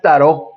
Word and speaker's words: tarot: muy profundo y su su pronunciación correcta es tarot Bueno también hay Bueno